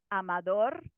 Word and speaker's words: Amador: So they listen to Amador, for example, as a name, and they think to themselves, where is that stress? And it's on the final syllable.